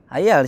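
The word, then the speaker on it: الحيَّ: Di sini apa? Hayal apa hayul? Hayal di sini, baca dong tuh ya. Astaghfirullah alladzi la ilaha illa huwal hayyal. Kenapa jadi hayal? Kenapa mansub gitu? Kenapa enggak hayul?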